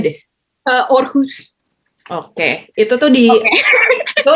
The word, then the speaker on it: Aarhus: Gue nggak bisa bacanya deh. Aarhus.